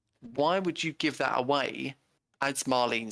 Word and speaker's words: Marlene: Didn't go home to Marlena for like dinner and stuff. Marlene. I keep on saying it wrong.